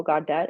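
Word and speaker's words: Gawdat: up his last name I think it was like MO godet is how you pronounce his last name he talked about AI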